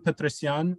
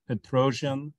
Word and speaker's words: Petrosian: Tigran Petrosyan or Petrosian or Petrosian, Tigran Petrosian, as the English pronounce it, is the Armenian world champion from 1963 to 1969.